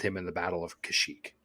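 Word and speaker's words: Kashyyyk: in the Battle of kashyyk is it kashyyk or kashik well we had one guy who commented on one of our things and he was like it's pronounced kashic but it's here's the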